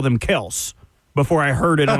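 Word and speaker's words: Kelce: Uh, so so there is some something out there that says that technically Kelse is the correct pronunciation, but they're just rolling with Kelsey.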